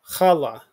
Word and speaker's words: challah: our key word okay we have our guttural that's first syllable and la so together challah is the braided bread